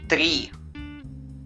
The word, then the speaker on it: три: Se pronuncia три.